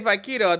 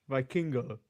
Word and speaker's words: Vikingo: did he just say Vaquino? Did I mess up his name right, or Vikingo? Oh, Viking. It's spelled. I believe Vaquino is the wrong way.